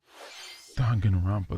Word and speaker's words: Danganronpa: Danganronpa, that's how you pronounce it.